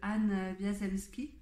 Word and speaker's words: Anne Wiazemski: mais j'avais lu l'histoire de la famille de Anne Wiazemski, si ça se prononce comme ça, dont les ancêtres vivaient en